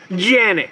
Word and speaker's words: Canik: The price tag is much more expensive than the other Canik options.